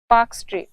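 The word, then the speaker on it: Palk: जलसंधि उसका नाम है पाक जल संधि इंग्लिश में ये स्पेलिंग में एल भी आता है पर ये एल साइलेंट है तो ये पाक जलसंधि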